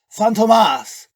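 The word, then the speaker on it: Fantômas: the French criminal mastermind phantomas but Tomas sounds like two formal a name so I shortened it to Phantom the circumflex over the O reminds you how to pronounce it you could just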